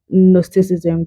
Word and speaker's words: Gnosticism: sense of symbolisms and nosticism the J is silent.